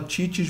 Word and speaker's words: Cicis: Se fala Titi's, mas se escreve Cicis Pizza. C-I-C-I-S Pizza.